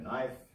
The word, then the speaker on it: knife: So knife.